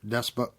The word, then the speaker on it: despot: that of a Goblin King or Earl Seer Despot. I was never. I'm just going to go past that word because I was mispronouncing it.